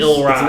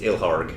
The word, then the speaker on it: Ilharg: Ilrog. Ilrog? Is that an I? Ilrog, the raised boar. 3 The R is after the A. It's Ilharg. Ilharg.